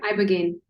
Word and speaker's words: Ibogaine: Uh, Yeah, Ibogaine.